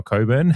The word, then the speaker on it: Cockburn: Uh Kimbo was talking about it whether it's Cockburn or Coburn. And it's a silent K, but um yeah.